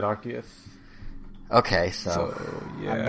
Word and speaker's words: Arceus: Yeah, the Pokedex pronounces it Arceus.